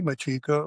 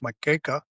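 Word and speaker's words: Macheca: Machica, which is really a Maltese name, is probably it's pronounced Makeca, but everybody calls it Machica.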